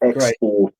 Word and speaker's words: X-4RCE: So it's X-Force. It's just spelled like that because X-Force is in Deadpool 2, Deadpool creates X-Force as a bit of a fuck you to the X-Men. So I called my company X-Force, but I had to spell it differently for copyright reasons.